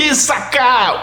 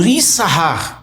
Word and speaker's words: Issacar: Então, a tribo de Issacar, ou Issahar, como é a pronúncia hebraica.